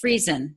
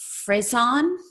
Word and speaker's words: Friesen: right when I say Friesen, right? Yeah. It's not correct. like Friesen or No, anything? Okay. not fancy. It's just free.